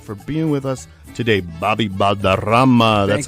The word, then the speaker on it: Balderrama: Bobby Balderrama.